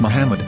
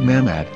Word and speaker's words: מחמד: Muslim prophet, or as Mamad with no A after the H. According to Ben Yehuda's Hebrew English Dictionary, it is correctly pronounced as Muhammad, not Mamad.